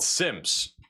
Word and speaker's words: Semmes: Semmes or Semore? Sims? It's called Sims.